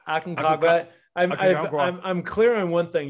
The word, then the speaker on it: Aconcagua: And then you have Aconcagua. Yeah, not quite. Aconcagua. Aconcagua.